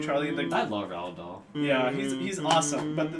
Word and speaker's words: Roald Dahl: Roald Dahl.